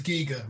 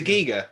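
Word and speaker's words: Giger: It is Giga rather than. It was a Geiger.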